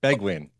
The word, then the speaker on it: Beguin: Beg and then win. Beguin.